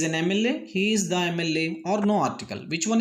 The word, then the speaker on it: MLA: This is not Ma, but here is abbreviation. And we have to pronounce M, A. So the pronunciation begins A.